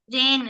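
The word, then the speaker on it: reign: आई जी एन आर इ आई जी एन रेन रेन म्हणजे शासन किंवा राजगट राजवट राजवट रिजाइन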